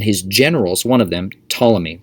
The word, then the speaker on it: Ptolemy: generals one of them ptolemy we're going to be reading about him spelled with a p before the t which makes things exciting he set up a